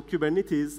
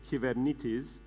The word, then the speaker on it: Kubernetes: from the greek writing is a greek word that everyone mispronounces the right way of saying cuban it is in greek is given it is but cuban it is it came out in the US and people in the u.s. they tend to mispronounce things especially in greek so now we have this word that we are stuck with but it comes from